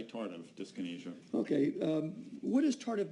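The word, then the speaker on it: tardive dyskinesia: I've heard tardive and tardiff. I would say tardive disynesia.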